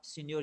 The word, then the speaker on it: Signor: ये है सिग्नर, SIG, ये पढ़ा सीनियर जाता है, सीनियर SIGNOR होगा ये।